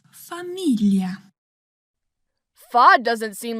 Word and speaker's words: famiglia: Famiglia. Fa doesn't seem like a strange syllable. I think she is talking about gli. Yes, in Italian this syllable is pronounced like the English LL plus Y.